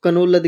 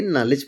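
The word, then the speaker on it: knowledge: तो इसको कनौलद के नहीं पढ़िए, नॉलेज पढ़िए।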